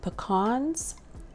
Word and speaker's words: pecan: I topped it with pecans if you say how do you say I've heard people say it um pecan pecans we say pecans where I'm from but if you top